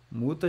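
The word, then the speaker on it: Mutter: mais longo ó Fata muta já é mais curtinho muta muta muta isso aí esse R aí no final com som de A tá bom não é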